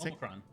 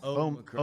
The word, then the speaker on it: Omicron: How do you pronounce the current COVID variant? Oh, you say Omicron.